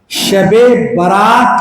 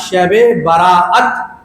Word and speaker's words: شب براءت: ہے, جس کو ہم شب برات کہتے ہیں. شب برات, حالانکہ اس کا نام ہے شب براءت. اصل اس کا پروننسیشن, اصل اس کا تلفظ, اس کی ادائیگی شب براءت, یعنی وہ رات جس